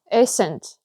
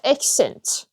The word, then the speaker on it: accent: Okay, the end of the words like even when you say accent maybe people will say accent like the accent they don't they don't pronounce the end of the word which is t you have to say accent accent accent accent you can see you can hear t in the end okay so this